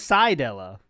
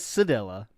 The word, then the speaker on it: Sedella: I always said it was Sidella, but he says Sedella.